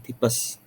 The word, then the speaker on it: tifus: yang berjudul sakit tifus tifus ya tulisannya tifus tapi kita membacanya tipes oke ya di sini